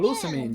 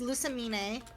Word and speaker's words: Lusamine: I always pronounced him as Lucamine, just because, like, it's supposed to be kind of like French. I like. I mean, that's how you Yeah. pronounce it in Spanish, so I say the same.